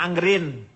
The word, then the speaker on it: anger in: Angger in Anger in kalau dalam dibacanya anggrin jadi nggak usah diapa-apain anggrin ajalah nganggur ini coba ya